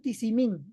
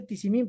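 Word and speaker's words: Tizimín: Entonces, nosotros estamos en Tisimín. Ya por fin me aprendí cómo se dice tisimín, porque antes decía tisim, algo así.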